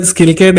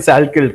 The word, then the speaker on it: Salkilld: coming to Anshul Jubli, Kulian Skilkid, if I'm pronouncing his name right, उसका नाम बड़ा tongue twister वाला है, मुझे तो याद ही नहीं हो रहा. And Killian Salkeld, correct.